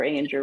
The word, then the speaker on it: Ainger: have my name ainger rhymes with danger because no one could pronounce ainger and so I switched